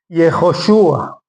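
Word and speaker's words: יְהוֹשֻׁעַ: Y Jejoshua. Perdón, acento en la U. Jejoshua.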